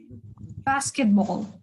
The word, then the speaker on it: basketball: Basketball, деди, basketball. It is on the first one, yeah? On the first syllable.